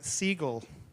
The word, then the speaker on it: Segal: Gillian, in case you want to pronounce it right, Segal. Segal, not Segal. Although some people would like to pronounce it Segal.